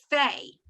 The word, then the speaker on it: Fay: This letter is Fay. Fay. Okay, F-A-Y, Fay. And they say it here as PH, but it has the F sound. Okay, it does not have a dot in it. And we are going to learn when it has a dot in it, it's actually pay, like paper, right?